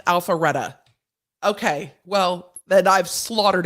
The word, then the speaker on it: Alpharetta: and go from there but alfreda is pronounced alpharetta okay well then i've